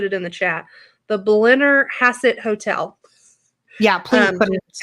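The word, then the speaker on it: Blennerhassett: Blenner Hassett.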